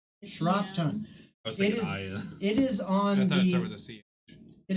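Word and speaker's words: Shropton: n exactly how it exactly how it sounds shron it is on the it is on the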